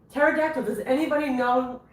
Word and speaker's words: pterodactyl: There's a there's a dinosaur that is It's spelled differently than it sounds. What was that dinosaur that you taught me in Addison? Pterodactyl. Pterodactyl.